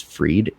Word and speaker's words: Fried: His name was like it's spelled fried, but it's Freed Kemper, Hmm.